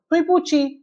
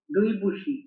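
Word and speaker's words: 对不起: பூச்சி சி வந்து சிஹெச்இ வச்சுக்கோங்க, அப்பதான் கரெக்டா ப்ரொனன்சியேஷன் வரும். துய் பூச்சி, துய் பூச்சி. அபிலாஷ் ப்ரொனவுன்ஸ் பண்ணுங்க. துய்பூஷி. பாத்தீங்களா வரமாட்டேங்குது. துயி நல்லா ஷார்ப்பா சொல்லணும். துய் பூச்சி. துய்பூஷி. பூச்சி பூச்சி நம்ம பூச்சி சொல்லுவோம்ல அந்த மாதிரி சொல்லுங்க.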